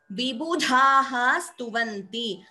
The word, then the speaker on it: विबुधास्तुवन्ति: अ विसर्ग सकार संधि सो इंस्टेड ऑफ द विसर्ग completely we pronounce as विबुधास्तुवन्ति the second s comes in the place of the visarga so vibudhastuvanti bhashapatihi pathati